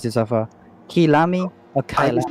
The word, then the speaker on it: Kyalami: We'll try to, from time to time, improve our pronunciation. But yeah, for now, let's just say it's Kyalami, because that's what they say in Assetto Corsa competition.